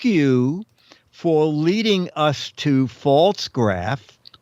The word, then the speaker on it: Pfaltzgraff: uh and then I I'll spell it p-f-a-l-t-z-g-r-a-f pronounced false graph is a very we last week well yes exactly exactly and Linda writes false graph is a very old established and well-known company 11.